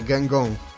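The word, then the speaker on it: Guingamp: I wtedy dowiedziałem się, jak czyta się tą po prostu ich nazwę, Gengong.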